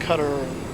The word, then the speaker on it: Qatar: the Olympics talking about how it's actually pronounced cutter try the old snobby